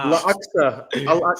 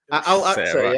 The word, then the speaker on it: Al-Aqsa: La Axa. Say it right, bro. Al-Aqsa, yeah.